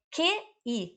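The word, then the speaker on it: 汽: Qi é QI, Q de queijo, I. E quarto tom, é super difícil pronunciar. Qi. Qi, não é Qi, como se lê em português, tá? Por isso que não adianta ler o pinyin, é Qi.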